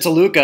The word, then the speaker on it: Toluca: Yeah, he told me that story, how Tacula, Mexico, he said Toluca, and then just, who was it, Finkel messed it up or something? The Fink was saying it wrong.